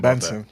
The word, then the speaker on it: BNXN: formerly known as boujou how are we feeling benson pronouncing that oh benson okay thank you thank you thank you how